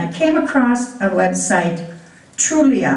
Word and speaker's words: Trulia: came across a website trulia i believe it's pronounced trul I a dot-com it's I believe